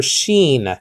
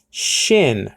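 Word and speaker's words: שין: not pronounce this letter Sheen he pronounced it Shin very clearly if you see his interviews he did not pronounce this as Sheen he pronounced it Shin not Sheen but there are different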